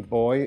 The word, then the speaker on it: buoy: ocean energy Oh II boy or only buoy as the Americans pronounce it and it's once once